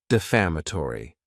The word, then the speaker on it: defamatory: And this word has five syllables and the stress is on that second syllable. Defamatory.